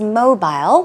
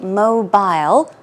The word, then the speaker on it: mobile: Now, the word here is mobile, which can be pronounced two ways. You can say mobile or mobile. Mobile phone, mobile phone.